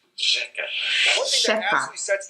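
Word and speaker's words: řeka: Instead, it's pronounced rzeka.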